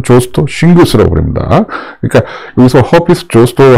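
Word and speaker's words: herpes: 그러니까 여기서 허피스 조스터 할 때 조스터는 허리띠란 뜻이고, 허피스란 뜻은 또 무슨 헤르페스, 우리식으로 표현하면 헤르페스 이렇게 쓰는데, 어느 나라 뭐 틀린 말은 아니죠. 그런데 뭐 그냥 영 믿고 발음으로 해주는 게 낫겠죠.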